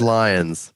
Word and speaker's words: Lyons: My last name is Lyons. My last name is Lyons. Yeah, with a Y. There's no I. It's with a It's Y. not Loins.